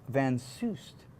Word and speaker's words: Van Soest: next after the break Tiffany Time Bomb van Seuss that's how you say it you're going to be